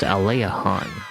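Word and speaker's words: Aliahan: So, let's go back to Aylehon. I know some people are like, "It's pronounced Ayleiahorn." But, I like to say Aylehon.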